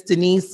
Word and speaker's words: Denese: we have the beautiful and the lovely miss denise there i want to say it the